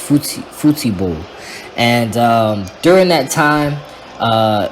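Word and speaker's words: futebol: a soccer match or in portuguese i believe it is pronounced futible and during that time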